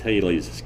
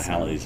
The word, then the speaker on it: Halley's: That is, Halley's Comet, after it's been around enough times, will be Halley's asteroid.